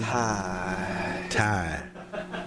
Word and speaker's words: Ty: Ty. A little heavy breath at the end.